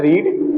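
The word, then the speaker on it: read: पढ़ना क्या होता है रीड और थर्ड फॉर्म पे क्या होता है रेड जो कि स्पेलिंग सेम होती है आर ई ए डी बट उसका प्रोन सिएट जो होता है वो डिफर करता है दे हैव रेड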